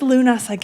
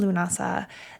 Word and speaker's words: Lughnasadh: Where does Lunasadh its name? Unlike, again, the other three fire festivals, there's a really clear bit of mythology around Lunasadh that gives this celebration its name.